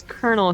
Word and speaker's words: colonel: D sir Andor Madam why is Colonel spelled like colonal what no it's not when you're eating popcorn I'm pretty sure it's k e r n e l well that's the